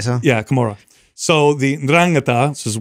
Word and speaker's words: Camorra: Yeah, Camorra.